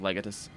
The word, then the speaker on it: Legatus: the distinction is the the distinction between pronouncing it uh lagatos or whatever he pronounces it like instead of legatus uh is that like